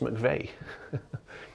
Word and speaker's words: McVeigh: road called eastleigh and the final few letters of eastleigh are the same letters of my surname but yeah it's a completely different pronunciation mcv eastly now it's mcveigh east lay east lay right eastlay